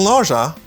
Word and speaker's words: nausea: Ou dit ça, nausea. Nausea. Nausea. Il y a plusieurs prononciations. Nausea ou nausea, nausea. Ça peut dépendre de à qui elle soit parlé de qui côté.